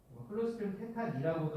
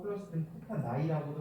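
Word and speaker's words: Clostridium tetani: NUS라고 해서 클로스트리디움 테타니라고도 하고 클로스트리디움 테타나이라고도 하고, 뭐 발음은 라틴어 유래라서 조금 뭐 제각각이에요.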